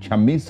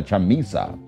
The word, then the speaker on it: Chamisa: that's from e day chamissa i beg your pardon i think i pronounced that name wrong it's uh chamisa uh zimbank's have gone